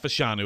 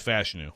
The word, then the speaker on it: Fashanu: It's not Fashanu, it's Fashanu. Fashanu.